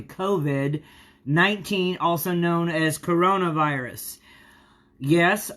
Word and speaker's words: COVID: I was saying Corvid like it was a crow, but it's actually COVID-19, also known as coronavirus.